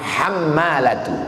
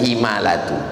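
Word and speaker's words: الحمالة: Cara membacanya bifathil muhmalah. Hammalatu bukan himalatu hiadiyatu yatahamaluhaun anumin hamalatu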